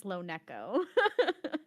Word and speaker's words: LoNeko: the correct pronunciation, if we're thinking about the way my name has come about, is LoNeko. But I just don't care. Whatever anyone wants to pronounce it, it's perfectly okay with me.